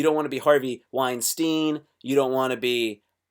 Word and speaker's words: Weinstein: If you're Jewish and the last five or so letters are a toss up between Steen and Stein, oh no, no, no, no, no, no.